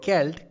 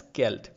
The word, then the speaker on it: Celt: has a c rather the c is replaced by k in the pronunciation and it is pronounced as skelt now the earliest celtic